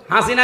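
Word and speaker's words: حسنة: লক্ষ লক্ষ মানুষকে দেখলাম কাবা শরীফে এই রুকনে আমিনি থেকে হজরে আসওয়াদ এটা পার হওয়ার সময় এই নামটা উচ্চারণ হচ্ছে, হাসিনা না হাসানা।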